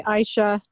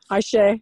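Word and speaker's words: Ayşe: hello to everyone hi aisha ayesha sorry yes that's okay who's that i guess yeah i'm used to the arabic um pronunciation of your name oh ashley hi yes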